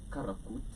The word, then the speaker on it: Karakvrt: Yes, so I decided, look here, Karakvrt in Yeah. the correct Turkish Yeah.